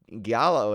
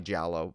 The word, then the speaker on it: giallo: it differently every time i know it's jollo some people say giallo giallo i just probably jalo but um right do we ever get the exact pronunciation like the official film historian pronunciation i think i think it's technically giallo but i like to say jello jello yeah yeah yeah